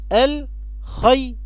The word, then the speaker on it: الخير: كلمة الخير الياء اللي فيها ياء مد، تعالوا ننطقها مع بعض كده: الخير، الخي، خي. يبقى الياء هنا يا ولاد الياء ساكنة، الخير، تنطق مع الخاء مقطع صوتي واحد وليست ياء مد.